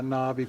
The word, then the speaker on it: NABE: Yeah, Nobby.